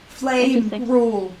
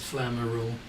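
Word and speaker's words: Flamerule: don't don't have Advantage flame rule is is the official way of pronouncing it yeah I think one of the novels I read many years ago many many years ago had it as flammer rule when are you going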